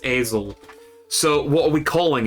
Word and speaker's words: Esel: Technically Essel, but it's pronounced Esel.